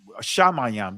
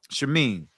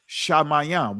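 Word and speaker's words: שמים: you know, uh, mayam, shamayam, that's the Israel, the ancient Israel pronunciation of the heavens, shaam. In the Israeli, they they call it um shamine, right? But anyway, but it's shamayam.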